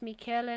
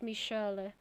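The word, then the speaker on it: Michela: so it's mickey ah so in in italian it's michaela not michelle okay i'm sorry we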